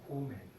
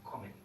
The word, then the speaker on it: kommen: Si no lo haríamos, se pronunciaría comen. Y no decimos comen, sino comen. Por eso necesitamos ya dos M.